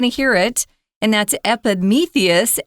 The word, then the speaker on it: Epimetheus: but you're going to hear it and that's Epimetheus Epimetheus and Prometheus and their brothers so we're going